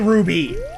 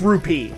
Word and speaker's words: rupee: i'm sorry rupee because apparently i was saying it wrong guys i say ruby all right i get it it's rupee i don't say it that way but it's p i believe it's correctly pronounced all right here we